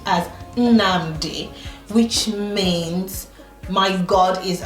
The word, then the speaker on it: Nnamdi: And then my parents gave him a middle name which is pronounced as Nnamdi, which means my God is around.